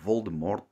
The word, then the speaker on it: Voldemort: represents air and slivering represents water the name Voldemort is actually pronounced with a silent d as the French